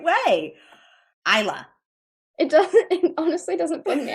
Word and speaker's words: Isla: Isla, where can we find you?